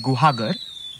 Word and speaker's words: Guhagar: It's in a village called Guhagar. That's spelled g u h a g a r.